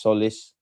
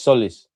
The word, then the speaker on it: Tzolis: It's pronounced solace. The TZ is silent. Thank you, man. I tried, man. I'm not the the guy, man. So, it's solace.